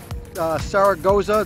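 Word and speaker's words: Saragosa: This is a Shimano Saragoza. That's how you pronounce it.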